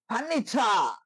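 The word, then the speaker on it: furniture: এখানেও টি থাকার কারণে এটা চয়ের মতো উচ্চারণ হয়েছে।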